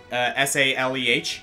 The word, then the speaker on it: Saleh: Or Saleh. Is that how you say it? Saleh? S-A-L-E-H? Yeah. Yeah, Saleh.